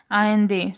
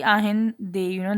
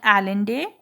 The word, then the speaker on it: Allende: Salvador, pronounced Ainde, Inde, Ainde, Ahinde. So his name is actually Ahinde. That's how it's pronounced. Ahinde. No, it's not Allende.